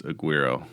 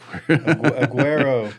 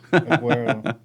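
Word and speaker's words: Agüero: Luis Aguero. Hey, guys. Did I say it right? No, I'm that close. sounded like Aguero. Aguero. Aguero. Yes.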